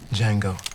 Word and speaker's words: Django: Django. D J A N G O. The D is silent.